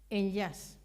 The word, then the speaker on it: Enllaç: patrón de la fundación en yas se escribe de otra forma pero se pronuncia así dio porque en catalán